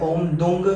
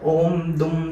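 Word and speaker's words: ॐ दुं: यूज किया गया है ओम दंग कई लोग पढ़ते हैं ओम दुम पढ़ते हैं कई लोग तो ओम दुम मेरे हिसाब से इसका सही उच्चारण होता है तो ओम दुम दुर्गाय नमः ओम ऐसे ही आप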